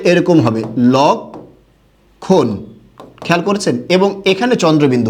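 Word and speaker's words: লক্ষ্মণ: এটার উচ্চারণটা এরকম হবে, লক্ষণ। খেয়াল করেছেন? এবং এখানে চন্দ্রবিন্দু হবে। এখানে কি হবে? চন্দ্রবিন্দু। কেন? এখানে এটা দ্বিত্ব করতে পারবে না। কখনোই যুক্ত বর্ণের সাথে থাকলে সাধারণত মফলা দ্বিত্ব করতে পারে না, কিন্তু তার প্রভাব, চন্দ্রবিন্দু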